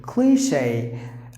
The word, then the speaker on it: cliché: Cliche. Long sound. Cliche. Cliche.